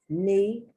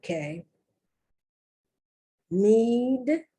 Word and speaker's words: knee: and the ew me knee kn you don't pronounce the k need need the to knee